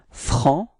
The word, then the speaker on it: franc: So masculine form is franc. So you don't pronounce the final C, okay?